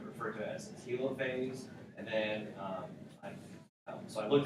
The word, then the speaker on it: telophase: to it as a telophase, and then so I looked it up. I looked up what the pronunciation was, and it's a hard E, long E sound, so it's telophase.